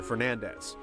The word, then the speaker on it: Fernandez: was Isabel nades however according to the Japanese versions of the game as well as Castlevania 64 the name is pronounced closer to Fernandez ca's actual last name